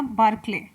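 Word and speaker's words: Barclay: तो Greg बार्कले लिख देते हैं इंग्लिश में भी, करेक्ट प्रोनाउंसिएट आप लोग कर लीजिएगा, बार्कले।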